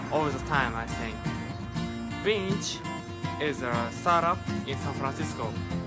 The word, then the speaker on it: Binti: And first, please tell me about Binti is a pronunciation. Yes, Binti.